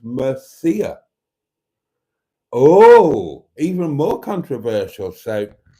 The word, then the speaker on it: Murcia: If you Google, how do you pronounce Murcia, it comes up with an audible pronunciation example that says Mercia.